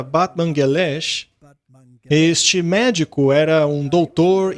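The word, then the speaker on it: Batmanghelidj: houve um cientista chamado Dr Batman Grid mas aparentemente se pronuncia Batman galash este médico era um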